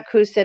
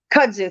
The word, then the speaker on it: kudzu: excuse me everybody um it's not acousted it starts with a C but it's like a viney plant kazoo Kudzu thank you in South Carolina